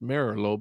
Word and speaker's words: Merlo: you didn't merlo that's italian name it's actually pronounced merlot but i i just say merlot because that's how everybody's called me by that